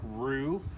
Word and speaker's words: Rue: uh the guy that owns it is patrick roo spelled r-u-e and so that's why they call